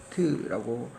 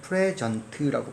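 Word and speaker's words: present: 동사할 때 선생님 발음이 프리전트라고 발음한다죠. 프리전트. 그 다음에 명사, 형용사 땐 프레전트라고 발음할 거예요.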